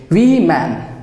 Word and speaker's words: women: we we we we are the indians like we men we men okay so you should take care of your pronunciation also so she was the first indian